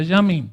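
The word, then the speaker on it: ימים: días yomin días yamim así se pronuncia yamim como si fuera una o y hao o y sale a yamim sí yamim Él juega con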